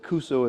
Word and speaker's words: Kusso: It's the Edisto Natchez Kusso. Edisto, It- how you spell It's Edisto, Edisto. right? Yep. The Natchez, it's Natchez. And Kusso is Kusso.